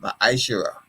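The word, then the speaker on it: מעשר: It means tenth in the Hebrew and is pronounced ma'ashera.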